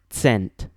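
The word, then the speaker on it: cent: start of a word the Esperanto word for 100 spelled c NT is pronounced sent not sent the sound represented by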